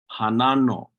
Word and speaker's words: hanano: regarding time which is the word for when word for when is hanano hanano these are two different ways of spelling it um Han with that glal o or sometimes you know it's just pronounced hanano hanano hanano Hanan stress on that second syllable na hanano they're very